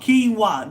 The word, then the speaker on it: quinoa: Kingo is it kingwa kingwa that name doesn't look like King wa but that's what it is we had King wa